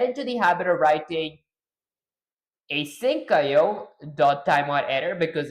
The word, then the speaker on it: asyncio: It's async IO and IO is pronounced separately.